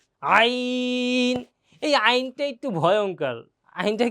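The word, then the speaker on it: ع: জ, আইন। এই আইনটা একটু ভয়ঙ্কর। আইনটা কি অনেক ভয়ঙ্কর, কারণ আইনটা বলার সময় একেবারে কণ্ঠের মাঝখান থেকে আসে, তো একটু জোর গলায় বলা লাগে।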